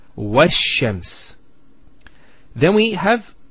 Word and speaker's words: وَالشَّمْسِ: This is al of definiteness. This is hamzat al-wasl. It's not pronounced, because there's something before it. Similarly, this lam is not pronounced either, because as we said, this is from the sun letters and there's a shadda there. So it's washams.